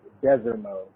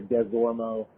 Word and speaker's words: Desimo: So, like, seeing Coach Mike Desimo there, just so you know, it's pronounced Desermo. People want to say Desormo.